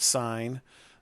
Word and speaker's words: sine: is again still pronounced even though it says it's spelled SI n like sin you still call it sine you don't call this cos or Coast we